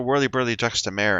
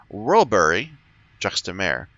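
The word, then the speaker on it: Wollbury-juxta-Mare: which i'm assuming mean i'm saying it wrong whirly burly it's rollberry juxta mare which i believe means next to the sea so worldbury by the sea in hindsight yes that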